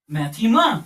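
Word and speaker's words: μάθημα: Alpha Theta EA Mu Alpha and this is pronounced as maema what maema so this word mathematics actually comes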